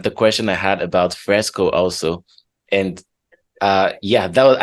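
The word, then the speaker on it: FRSCA: question I had about Fresco also and uh yeah that I also had um I was also trying to pronounce it I was saying F RS C but then I discovered this Fresco I wonder why they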